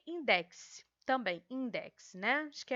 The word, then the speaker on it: Index: companhia de jesus e inquisição e index também index né que é assim que se pronuncia é no século 16 a igreja católica